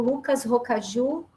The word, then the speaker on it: Lucas Rocaju: E hoje a gente vai conversar sobre audiovisual, e povos indígenas, com o Lucas Rocaju. Lucas, a pronúncia está correta? Sim, tá certo.